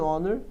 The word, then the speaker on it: honor: heir, uma honra, an honor, uma pessoa honesta, an honest person. As palavras hour, heir, honor e honest são as únicas 4 palavras no inglês que o H é mudo.